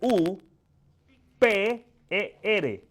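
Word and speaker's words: ὑπέρ: H u p E r.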